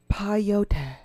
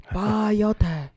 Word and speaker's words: peyote: And he keeps saying piotr. Peyote. It's pronounced peyote. Mm-hmm. Like peyote. Like in the word pendejo.